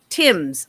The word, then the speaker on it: Thames: So the individual this evening is Nancy Timms. It's spelled THAMES like Thames, but it's actually Tim.